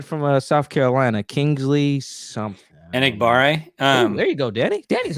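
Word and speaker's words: Enagbare: Enigbare. There you go, Danny. Danny's on it with the pronunciation.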